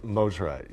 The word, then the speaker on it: Mosrite: Did I mispronounce it? Mosrite. Mosrite, yeah.